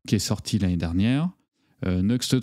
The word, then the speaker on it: Nuxt: Donc Next, certains prononcent Nuxt. Il me semble avoir entendu Sébastien Chopin dire Nuxt.